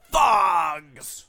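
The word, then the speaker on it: Phogs: Fogs!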